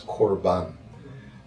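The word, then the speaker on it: קרבן: The word in Hebrew for sacrifice is 'korban' which means: an act of coming close.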